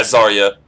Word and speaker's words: Zarya: Zara. I never can pronounce her name. I want to say Zarya. Yeah, Zarya.